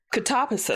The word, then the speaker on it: Katabasis: I She said she said at first she was saying Catabasis cuz that's your initial thought on how to to pronounce it, but apparently people told her, "No, it's catabasis."